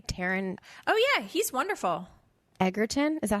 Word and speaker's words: Egerton: Egerton.